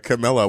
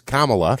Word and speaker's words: Kamala: Camilla. Well, Uncle Jack, apparently Camilla's got something going on. I think he means Kamala. Kamala. Well, yeah. Not everybody pronounces that properly.